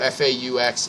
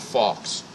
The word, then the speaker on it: faux: By the way, people, F-A-U-X, it is faux, not fox, or not fake.